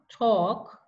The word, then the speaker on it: talk: half the next walk walk the next one talk talk and the last one would would okay